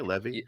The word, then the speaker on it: Levy: leaked out through the trades that Sean Le Levy how do you pronounce that one Levi Levy no Lev yep Sean Levy yep you know